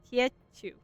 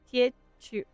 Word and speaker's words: Tia Chu: it in my ear, but she said Tia Chu. Tia Chu. Okay, I'm saying it over and over so I try to remember. Tia Chu. Chu. Chu. Tia Chu. That's what she said it's pronounced.